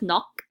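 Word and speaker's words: 넋: And the first word is pronounced as nok.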